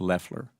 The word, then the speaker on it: Loeffler: The administrator's last name is pronounced Loeffler.